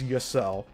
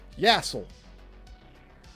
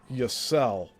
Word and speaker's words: Yissil: pronounce, but he knows my last name is Yissil. But he says it like all these other dipshits that don't really care about what they say. Like, Yassel. That's the most mispronounced way people say my last name. It's Yissil.